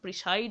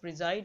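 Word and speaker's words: preside: খুব হাসির বিষয় একটা বলেছে, দেখো প্রিজাইড মানে কি বলো তো, প্রিসাইড উচ্চারণ হবে না, প্রিজাইড উচ্চারণ হবে।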